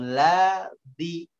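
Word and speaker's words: الذي: Tapi hati-hati, tebel, terlalu ke atas. Karena memang ada yang membacanya tebel. Ya, ada yang membacanya tebel. Dan ini salah. Ya, salah. Illalladzi, ladzi, la. Jadi la-nya dia tebel, ya. Ladzi. Mengambilnya di gusi la-nya, padahal la-nya ngambilnya di gigi.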